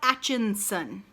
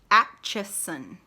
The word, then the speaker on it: Atchison: Do you know what you don't see in the word Atchison? An N in the middle. It's not Atchinson. If you're going to say it 50,000 times, say it right. Atchison.